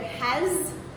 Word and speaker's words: has: Even the word has is actually Z at the end.